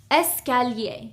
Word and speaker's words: escalier: The first one is escalier. This means stairs, okay? Escalier. The second one is ascenseur. This is an elevator. Ascenseur. Okay. Here we have 1, 2, 3, 4 syllables.